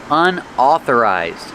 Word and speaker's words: unauthorized: Also, we see the word unauthorized. Pronunciation unauthorized. Au makes the a sound like ball and call. Oh, a authorized. Unauthorized.